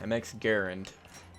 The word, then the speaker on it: MX Garand: MX Garand is actually what it's pronounced.